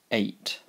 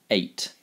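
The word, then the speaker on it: eight: 8. 8. It rhymes with late.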